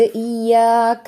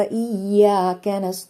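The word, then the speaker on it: إياك: അലിഫ് മദ് വന്നിട്ടുണ്ട് ഇവിടെയും രണ്ട് ഹർക്കത്ത് നീട്ടലേ ഉള്ളൂ രണ്ടിലധികമായിട്ട് ഇയ്യാക്ക അങ്ങനെ നീട്ടാൻ പാടില്ല ഇയാക്കബുദുവ ഇയാക്കീൻ അവിടെ രണ്ടു സ്ഥലത്തും ശ്രദ്ധിക്കുക ഇയാക്ക അത്രയേ ഉള്ളൂട്ടോ ക്യാഷ്വൽ ആയിട്ടുള്ള ഒരു നീട്ടൽ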